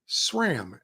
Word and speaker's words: SRAM: Okay, so by the way, speaking of these, is it SRAM or SRAM? SRAM. SRAM. SRAM. SRAM. Right? Like, the H is silent because it's not there.